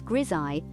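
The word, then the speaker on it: grisaille: wand now you might wonder what's Gile Gile pronounced as grii is a French term that literally translates to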